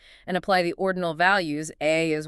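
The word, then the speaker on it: 愛: The author takes those values and introduces the Japanese word for love, which is pronounced AI.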